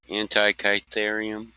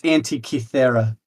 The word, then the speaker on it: Antikythera: Antikytherium. I said Antikythera, and it's Antikythera.